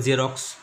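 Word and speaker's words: Xerox: এক্স ইউ ভি আই, এক্স দিয়ে জ উচ্চারণ হয়, তোমার দোকানে দেখেছো জেরক্স লেখা আছে, ওটা লিখতে পারতো জেড ই আর ও এক্স লিখতে পারো জেরক্স, কিন্তু লেখে এক্স ই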